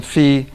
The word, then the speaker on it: phi: that was not intentionally yeah I switched from fee to SAI uh so I call this Fe because Fe is the original Greek pronunciation of Fe and fi is the Western European adulteration of the Cor